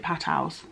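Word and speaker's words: Patau: down syndrome Edwards or I think you pronounce it pat house that's how people have been saying it to me basically they told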